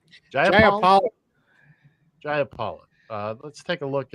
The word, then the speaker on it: Jayapal: This is Representative how do you pronounce her name? Jayapal.